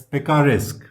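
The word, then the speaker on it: picaresque: तो उनमें से जो आपका फर्स्ट वन है वो है this one which is pronounced as पिकिका रिस्क।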